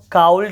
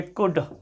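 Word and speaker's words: could: इसको काउल्ड नहीं पढ़ना, शाउल्ड नहीं पढ़ना, वाउल्ड नहीं पढ़ना, इसको पढ़ोगे कुड, इसको शुड, और इसको उड।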